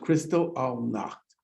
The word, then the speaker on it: Kristallnacht: most concentration camp prisoners had been political opponents of the nazis these attacks which were soon called kristallnacht pronounced crystal all knocked were front page news